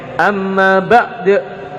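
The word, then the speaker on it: أما بعد: Orang Arab bacanya amma ba'd seperti itu.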